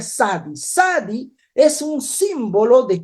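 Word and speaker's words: צדי: Esta letra significa o se pronuncia Sadi.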